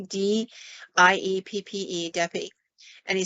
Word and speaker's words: Dieppe: And he gets to this one site, and it's, I believe it's pronounced Dieppe, D-I-E-P-P-E, Dieppe.